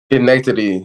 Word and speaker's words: Schenectady: Schenectady, New York.